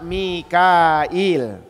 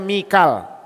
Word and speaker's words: Mikal: awalu manq subhanaabbial Aa Mikail dan diriwayatkan sebuah riwayat bahwasanya yang pertama kali mengucapkan kalimat Subhana rabbiyal ala adalah Mikail malaikat Mikal Mikal Mikal kalau kita di Quran bacanya Mikal jibrila wa Mikala ini Mikail jabraila wa